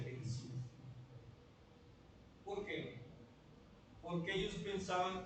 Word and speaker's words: Gerizim: Y había también otro problema mayor, que significaba el monte Garizim, que se pronuncia Gerizim.